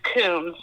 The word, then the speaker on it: Kuhns: It's Kuhns.